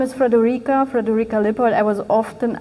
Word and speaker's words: Friederike: Um my name is Friederike, Friederike Liebold. I was often asked um asked how this name is pronounced um in German, so it would be Friederike.